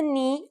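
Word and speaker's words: νι: a consonant knee yes pronounced just like the knee on your leg its sound in greek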